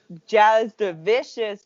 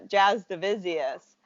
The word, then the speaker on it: Jasudavicious: pronounce my last name it's it's actually yes in english it's like jazz the busiest but so it's like